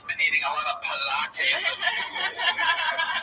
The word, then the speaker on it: Pilates: She's been eating a lot of Pilates and plates. Plates, but it's pronounced it Pilates. Yeah, there you go. Like P-space latex.